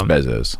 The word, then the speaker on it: Bezos: As you observe him from a distance, Bezos. I don't know how to pronounce it either. I think it is Bezos.